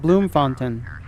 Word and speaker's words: Bloemfontein: clear through the Char so I guess it's called Bloom Fon okay Bloom Fon all right so that's how you say it it's Bloom font all right uh